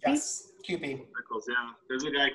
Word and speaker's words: Kewpie: Kewpie? Yes, Kewpie.